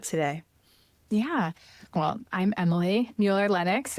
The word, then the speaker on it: Mueller-Lennox: Well, I'm Emily Mueller-Lennox. If we're in Germany, we pronounce it Mueller-Lennox.